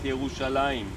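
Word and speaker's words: ירושלים: Not Jerusalem, but Yerushalayim. When we end a word in Hebrew grammar with aim, it's usually doubled.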